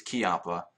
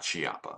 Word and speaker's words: Chiappa: anyway um but yeah it's kiaa um not chiapa I mean even though there is an H in there it is silent as far as I know if there's anybody